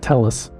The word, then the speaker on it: Telles: My name is Teas. I'm a 15-year resident of Las Vegas and I'm the founding attorney of Accolade Law. Telus or Tea, he uses both pronunciations interchangeably, is an excellent example